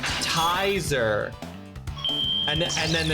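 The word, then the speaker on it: Tizer: It is not pronounced like taser with an I. It's pronounced tiser.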